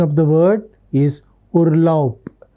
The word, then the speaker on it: Urlaub: Observe the pronunciation of the word is Urlaub, not Urlaub. Ending B sound, it should sound like P, like a P. So, Urlaub, macht Urlaub.